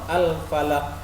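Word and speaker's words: الفلق: Contoh al-falaq, al-falaq. Nah, itu ada getaran. Tidak boleh kita baca al-falaq. Al-falaq tidak boleh.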